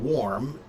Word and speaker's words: warm: Cat, the problem you're having is the word warm. Um, w a r mm. It It really does kind of sound more like it should it should be spelled warm m because the word or